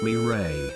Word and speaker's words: Mireille: It's supposed to be Mireille, pronounced Mireille. Oh shit, I take it back.